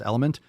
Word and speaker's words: LMNT: would check out relight or lmnt pronounce element you might also want